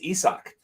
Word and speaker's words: Isaac: correct name pronunciations esau i only know this from the broadcast so i've always called him isaac no it's isak uh so and so